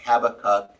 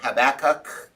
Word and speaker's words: Habakkuk: with Habakkuk tonight, and we found out that Habakkuk is pronounced many different ways by different. Okay. Some are Habakkuk, some are Habakkuk, some are Habakkuk. I don't. It's all different ways.